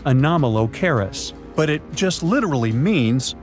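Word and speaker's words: Anomalocaris: The name is a bit tricky to pronounce, so I'm not going to. Okay. Okay. It's anomalis, but it just literally means unusual shrimp.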